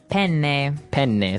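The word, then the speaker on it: penne: pronounce uh we said pen in uh in English in American English but in proper Italian it would be pen pen so you you you double pronounce the consonant yes what about fetuin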